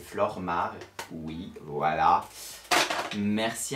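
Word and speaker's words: Flormar: flou remarque que j'utilisais oui je le prononce est mal je disais flow marc dans mes vidéos c'est flore marc oui voila merci à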